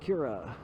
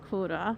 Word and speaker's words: Kura: Ah, there it is, Kira. Actually, here, let's go one more. Sorry. Pretty sure the pronunciation is Kura.